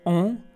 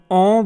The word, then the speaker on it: ओम: जैसे कि ओम, हम ओम बोलना नहीं आता हमें, ओ पर बिंदी लगा दी जाए तो ओम आता है, ओम, ये हम नहीं बोल पाते।